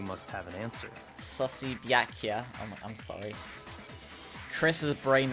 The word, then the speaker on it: Byakuya: Oh yeah, also, like, everyone else, like, pronouncing Byakuya's name with 4 syllables, where if it was actually, like, read as Japanese, it would be 2. The Byakuya. Byakuya.